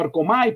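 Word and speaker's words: ἔρχομαι: la distingue de homay, en algunos diccionarios ponen como Ercomai, pero entiendo que correctamente es con el acento en la e.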